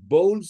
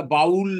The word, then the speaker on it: bowl: Many of them offered bowls of water to my father. তাদের মধ্যে অনেকে আমার বাবাকে bowls of water, জল দিতেন একটা পাত্রে করে, এটা বটল নয়, এখানে BOWL লেখো, বোল, উচ্চারণটা বাউল নয়, bowl, BOWL, bowl.